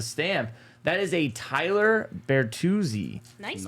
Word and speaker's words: Bertuzzi: That is a Tyler Bertuzzi. Nice pronunciation.